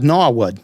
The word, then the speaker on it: Norwood: a little town called gnawood now wood mass now it's spelled n-o-r-w-o-o-d and they're they're saying norwood they're just saying it like bostonians yeah nahwood i lived